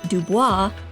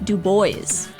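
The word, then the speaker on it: Du Bois: a historical figure's name it is not web Dubois it is web D boys a big thank you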